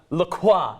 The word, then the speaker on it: LaCroix: LaCroix, it's actually pronounced.